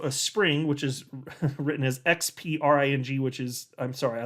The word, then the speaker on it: Xpring: which is written as XPRING, which is, I'm sorry, I love you, Ripple, but that's stupid. Everybody's like, is it Xpring? How do you pronounce it? It's Spring, though.